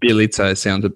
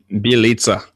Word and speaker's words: Bjelica: Well, I'm pretty happy that Bjelica sounds a lot better than what I said last time. I saw some of the emails that came through, and I believe that's the correct pronunciation. Yep, Bjelica.